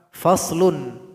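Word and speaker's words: فصل: Cara membacanya yaitu kita mesti memberikan bunyi vokal dari huruf yang kita sukunkan ini.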